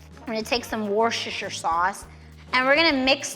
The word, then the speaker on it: Worcestershire: The pronunciation, Wor -- - I never get it right.” “-- ches --” “War-sta-shire.” “Wors-wors-wors-suh-sure.” “Wers-a-shur. Worsty-sher.” “On my channel, I say Wor-chest-ayer sauce. We’re gonna take some Worcestershire sauce, and we’re gonna mix that up.